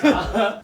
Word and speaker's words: butter: Now, it's time for me to correct [Botter that was transformed into Boatter(?)] your pronunciation, Jay. Botter! Butter! [Teacher Minseo who happens to be strict!] Not boatter, okay?